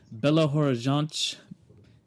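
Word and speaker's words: Belo Horizonte: JG studios in uh Bella Horan Brazil that's how they say it Horan it's very uh I don't know throaty I guess would be the word yeah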